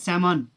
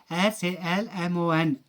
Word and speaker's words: salmon: it's not salmon it's salmon okay s a l m o n l is silent in this uh word we say salmon not